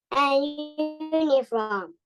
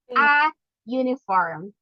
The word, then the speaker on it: uniform: Okay, if you're going to pronounce this one, okay, this will be uniform. Okay, that is a consonant sound. Okay, a uniform.